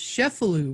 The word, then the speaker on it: Cefalù: And it's also pronounced Cefalù, right? You're right. I was pronouncing it the Monroe way.